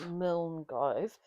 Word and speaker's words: Milngavie: Milngavie, and we I think are that's how you say it.